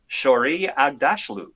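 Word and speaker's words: Shohreh Aghdashloo: And that's why I chose Shori Agdashlu of The Expanse. Yeah, well, I actually knew I pronounced it correctly.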